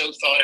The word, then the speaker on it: Othot: Weiss and the presidency who thought which is how you pronounce name of the company it comes from original thought so once again it's own thought if you're wondering how